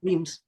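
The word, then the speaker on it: Wemyss: whams or whims whams weams okay weams yes um it doesn't look like that at all and I'm not sure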